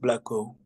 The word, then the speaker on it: Blacko: The pronunciation for my name is just Blacko.